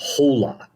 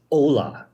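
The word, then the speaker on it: Olá: you said the word Hola when you were talking about the game in Brazil Spanish bro yeah Spanish they speak Portuguese second the H is silent it's Ola oh yeah well I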